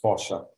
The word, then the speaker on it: fossa: unto itself and it's classed as vulnerable it's pronounced fossa south asia india the tiger of course very